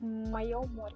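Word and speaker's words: моє море: It's my sea, like Mayo more.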